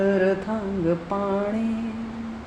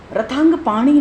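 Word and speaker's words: रथांगपाणे: गोविंद गोविंद हरि मुरारी, गोविंद गोविंद मुकुंद कृष्ण, गोविंद गोविंद रथांग पाणी, गोविंद रामोदर माधवेति, गोविंद दामोदर माधवेति। रथांग पाणी नहीं, रथांग पाणे, जो शुद्ध उच्चारण है श्लोक से वो करना है।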